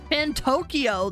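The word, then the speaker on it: Fantoccio: Fantokyo, that's how you say it.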